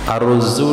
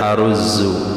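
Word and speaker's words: أرز: Arruzzu dibaca dengan fathah hamzah. Aaro ru tasdid zaid aruzzu hiya ashurilghat dia yang paling masyhur cara baca dari aruzzu itu.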